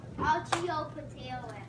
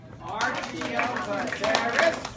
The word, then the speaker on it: Archaeopteryx: Let's clap it out. What is it? Archaeopteryx. Archaeopteryx. Archaeopteryx. Well, that's 6.